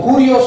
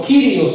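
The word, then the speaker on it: κύριος: Seguro la mencionan como curios o quirios, hermano.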